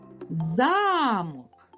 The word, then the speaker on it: замок: покличемо це слово замок ось ми покликали це слово наголос падає на звук а звук а є наголошеним а якщо ми переставимо наголос на звук о замок то мить замок перетворився на замок Ось так наголос